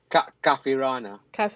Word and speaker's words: Kafirana: Kafirana. So Kafirana. there's an Arabic word called kafir, Okay. yeah, which means unbeliever as well. So Okay. it's kafir ana.